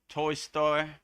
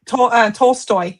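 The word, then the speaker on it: Tolstoy: 10 divine quotes from uh Leo Toy Story. I hope I said that right. Toltoy.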